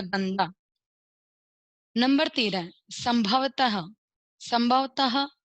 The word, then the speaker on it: संभवतः: Number 13, संभवतः। संभवतः त के बाद में देखिए विसर्ग है, इसको ह के अंदर उच्चारण करते हैं।